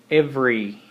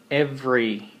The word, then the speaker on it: every: the second one is every every okay if you can see the second e is not pronounced very much or almost not pronounced the third one is